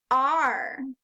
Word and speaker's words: are: Number 6 is R. This word is completely tricky. R is spelled A, R, E, R.